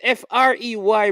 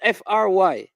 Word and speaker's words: Frey: And the man name is Frey, brother, not Fry.